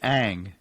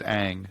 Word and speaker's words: Ng: to pronounce she but her preferred pronunciation is ang so that's how she pronounces it kim aang but i've